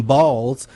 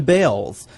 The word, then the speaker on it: Bales: After all, the family did change the pronunciation of their last name from Balls to Bales.